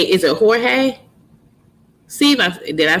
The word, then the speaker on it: Jorge: Is it Jorge? I want to make sure it sound. I want to say that's how you say it, Jorge. Oh, can you? Oh, okay. So I'm not pronouncing it right. Okay. You're right. You're so right. Jorge is in Spanish.